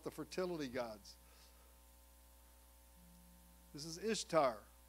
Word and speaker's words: Ishtar: fertility gods this is ishtar pronounced easter easter was originally the